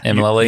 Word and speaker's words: Mlily: Am I saying it right? Mlily? You're saying it perfectly.